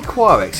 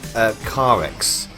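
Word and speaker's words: Qirex: Sorry, I always say Quarex. It's actually pronounced Carex, isn't it?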